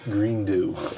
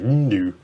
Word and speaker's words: Grindu: That's just Greendew. Okay. It's all squished together, so it's like Grindu.